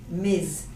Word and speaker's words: Ms: you know if the person is married when you say Ms you do not know the pronunciation of the last one is Miss MA and the spelling is only MS okay so here you can